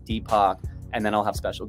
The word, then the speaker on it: DPAK: is a unique or yeah so my name deepo if you spell it the Indian way it's actually a common